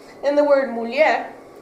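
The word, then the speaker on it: mulher: h and the word muler the r at the end is more strongly pronounced in Portugal than in Brazil so in Brazil it's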